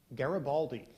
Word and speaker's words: Garibaldi: Garibaldi.